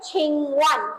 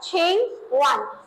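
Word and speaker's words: 请问: Vocabulary में है हमारे पास लिखा हुआ है छिंगवन. क्या लिखा हुआ है? छिंगवन. जैसे यहाँ पे जो स्पेलिंग लिखी हुई है QING और WEN, नजर नहीं आ रहा होगा आपको, बहुत छोटा सा है.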